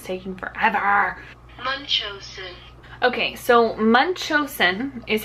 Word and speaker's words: Munchausen: me look Google's taking forever our okay so Munchausen is how you pronounce it and it's basically where the parent